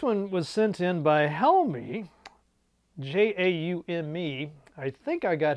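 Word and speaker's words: Jaume: Probably didn't, but I went to one of those like pronounced names dot site and it told me his name was Helmy, so maybe I got it right.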